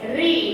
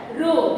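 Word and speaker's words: ऋ: Re, not Ru.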